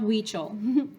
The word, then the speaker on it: Huichol: Huichol, pronounced Huichol.